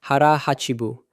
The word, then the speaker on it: hara hachi bu: Habit three, hara hachi bu, pronounced roughly hara hachi bu.